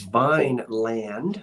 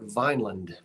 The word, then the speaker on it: Vineland: from out of town if they say Vineland because it's not referred to as Vineand, although it's spelled that way. Folks around here call it Vineland.